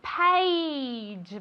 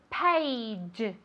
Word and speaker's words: page: Very good, page. Vale, esto es difícil de pronunciar. Se escribe con una A, pero se pronuncia como si fuera E-I. ¿Vale? Page, page.